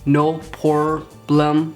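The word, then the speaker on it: No Pore Blem: time pronouncing this because they put no pore like your pores but then bloom like no problem poor poor bloom you get it no pore Blum primer listen no problem primer this is definitely a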